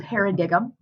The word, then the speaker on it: paradigm: is called a paradigm it's spelled paradigm but paradigm like a pair of dimes um and a paradigm